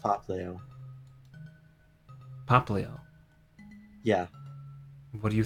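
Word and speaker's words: Popplio: the It's pronounced Poplio.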